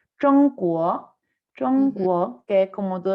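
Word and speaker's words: 中国: chino y quiere saberlo, no se dice nada parecido a China, se dice Zhongguo, Zhongguo, que es como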